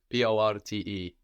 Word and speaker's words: porte: The door in French is la porte, P-O-R-T-E. And this R kind of goes a bit in the throat in French. You can hear that. La porte. La porte. Like portul, no? And this is a feminine word.